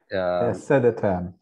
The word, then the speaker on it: Södertörn: And I'm not sure on how to pronounce this university with the umlauts or the two accents. Is that Södertörn? Södertörn.